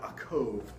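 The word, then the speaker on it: יעקב: of cells in Hebrew the name Jacob or a Cove as it's pronounced in in Hebrew the name Jacob means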